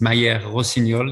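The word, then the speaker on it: Mayer-Rossignol: That's my first name, and last name, difficult to pronounce, is Mayer Rossignol in French.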